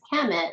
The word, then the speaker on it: Khemit: So the KMT we pronounce as Khemit, so you can write it in many different ways.